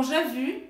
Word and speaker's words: j'ai vu: Porque você vai precisar falar ele para conseguir fazer a pronúncia dessas duas frases. Então, je veux aller voir le film. E com j'ai vu, seria?